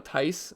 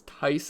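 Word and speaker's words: Theis: But if he's out, Daniel Tice, I think that's how you say his name. I've been pronouncing it Thies, but I guess it's Tice.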